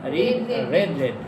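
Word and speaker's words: read: দেখেন এখানে বানানগুলো সবগুলোই এক, রিড কিন্তু উচ্চারণ আলাদা। রিড রেড রেড, রিড রেড রেড, shirt shirt shirt, এটা।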